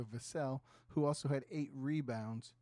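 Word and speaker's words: Vassell: 22 points from Devin vasil I was I found out today I was saying it wrong so vasel who also had eight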